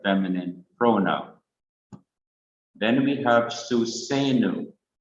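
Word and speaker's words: סוּסֵנוּ: Then we have Susenu, and wherever you see the arrowhead, it is a sign that this syllable needs to be stressed.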